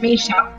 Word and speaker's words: Misha: Mishka Collins? Or was that Misha? Misha. Whoops.